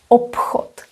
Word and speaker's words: obchod: Obchod, p. You can say p very confidently, obchod, because it is pronounced as p. That's the correct pronunciation.